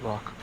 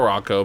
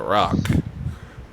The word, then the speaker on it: Rocco: of Rocco Rocco well he actually insists that the O in his name is silent he just likes to be called Rock so not Rocco but Rock yes okay then but uh